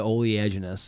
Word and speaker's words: oleaginous: I'm going to say fucking A for the oleaginous.